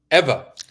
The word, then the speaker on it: Ewa: How do you pronounce the name? Eva.